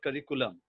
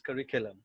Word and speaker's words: curriculum: you talk about the general communication we usually pronounce this word curriculum it is it is in schools it is in schools and colleges but the right pronunciation is curriculum so curriculum vitae now moving to the the next one